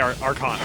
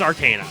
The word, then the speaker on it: Arcana: Not Arcana. I know I always say Arcana. I always have. However, it's Arcana, so sorry.